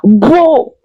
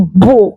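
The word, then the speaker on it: בוא: En hébreu, il a dit beau. Viens en hébreu se dit beau. Et ça s'écrit comme ça avec trois lettres hébraïques. Le bête, le va et le alef.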